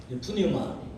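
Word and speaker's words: πνεῦμα: 여러분 그 영에 해당되는 히브리어 단어가 루아흐고 헬라어가 푸뉴마 또는 이제 피를 묵은 발음해서 뉴마거든요.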